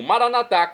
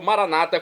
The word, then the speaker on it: Maranata: aceite e agora eu clamo maranat como dizemos nós católicos ou Maranata como dizem nossos irmãos separados os evangélicos ou protestantes não importa pronúncia o significado é o mesmo Vem Senhor Jesus Senhor